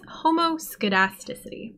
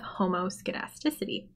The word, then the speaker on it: homoscedasticity: assumption of linear regression is quite hard to pronounce it's homoscedasticity the homo means same and basically this assumption